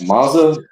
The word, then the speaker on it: Monza: I can't pronounce that. Monza.